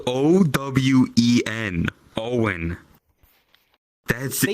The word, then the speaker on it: Owen: Owen is spelled O-W-E-N.